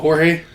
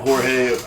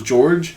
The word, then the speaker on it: Jorge: of Blame It on Jorge. I'm not honestly not. I think he's. For the longest time I thought it was George, right. And then I realized it was spelled with a J.